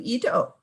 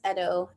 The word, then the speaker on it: Ido: And over to Ido from Ryerson. Hi there, it's pronounced Edo.